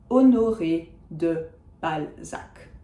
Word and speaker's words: Balzac: This illustrates the final C that we typically pronounce. It also illustrates something worth knowing. If you have a de separated from the other part of the last name with a space, when we speak about the person, we don't say, oh, and de Balzac did whatever. We say just Balzac did, blah, blah, blah, blah, blah. So the de gets eliminated when we don't say the full name.